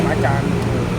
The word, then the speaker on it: Macan: Tapi kadang dari mereka itu pelafalannya yang masih kayak pekan gitu kan. Kita sambil mengedukasi bahwa yang sebenarnya ya Macan.